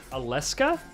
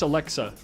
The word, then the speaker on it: Alexa: Aleska? That's his name? Am I call? I don't even know how to. No, pronounce it's Alexa.